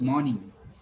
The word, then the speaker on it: morning: So when I say morning, I say long O. And because of that, it seems that I'm calling it R, but there is no R.